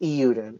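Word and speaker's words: Eiyuden: I believe it's just I believe it's just euden euden Chronicles 100 Heroes oy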